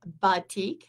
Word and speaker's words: batik: for banyan boutiques and i love batik that's how you say it actually um and that's